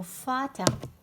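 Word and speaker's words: Vater: فاتر روماركيو فاتر اللي هو الاب. شوفوا روماركيوني كيفاش راني ننطق.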